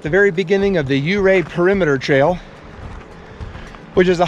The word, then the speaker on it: Ouray: in the area and the town is actually pronounced you Rea like hooray so the first part